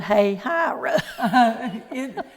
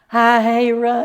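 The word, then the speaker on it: Hialeah: And also people getting off the bus that couldn't pronounce the word hey hyra. What did they call it? Hi hira.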